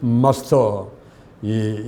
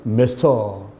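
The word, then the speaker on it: master: 말할 수가 있습니다 먼저는 마스터이 영국식 발음으로는 마스터 미국식 발음으로는 매스터 데 마스터 이게 누구를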